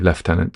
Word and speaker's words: lieutenant: I imagine a lot of young people would say lieutenant now actually but um but officially left tenant.